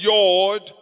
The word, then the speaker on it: Yod: Rather, Y, pronounced as Yod, does exist in its place.